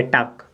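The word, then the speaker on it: talk: पढ़ेंगे तो यानी प यहां पर एल साइलेंट हो जाएगा तो पढ़ेंगे टक क्या पढ़ेंगे टक ठीक है ना टॉक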